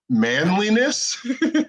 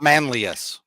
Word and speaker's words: Manlius: Manliness? Just Manlius.